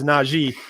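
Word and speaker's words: Najee: me for naji harris i've just learned how to say his name apparently so i emphasize naji but how i approach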